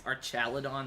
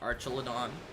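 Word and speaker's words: Archaludon: mispronouncing it it's got I think it's archidon not archelon also I don't know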